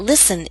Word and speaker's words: listen: Note that listen is one of those words in which we always omit the T sound.